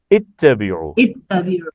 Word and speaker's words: اتبعوا: اچھا ادھر بھی دیکھیے، حمزہ یہ چونکہ حمزۃ الوصل ہے نا، تو ادھر ہم پڑھ رہے ہیں یا قوم اتبعوا المرسلین. حمزہ نہیں پڑھا نا، جی یا سر قوم سائلنٹ. اتبعوا، میم کو تا سے ملا دیا ہے، لیکن یہاں آیت کے شروع میں آیا ہے، تو ادھر ہم پڑھیں گے اتبعوا.